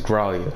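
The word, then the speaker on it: Gralea: How you say that? I don't know. Gralia? Oh, Gralia? We should be drawing close to Gralia. Yeah. Hey, okay, I did say it right. It's Gralia. I can't imagine what it'll be Gralia.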